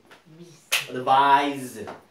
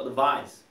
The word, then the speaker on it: advise: S로 끝나는 경우에는 특별한 경우를 제외하고 전부 다 Z로 끝납니다. 아시겠죠? Z로 Advise. 자, 따라합니다. Advise.